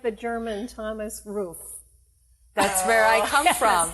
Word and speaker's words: Ruff: I pronounce it like in German you would say roof.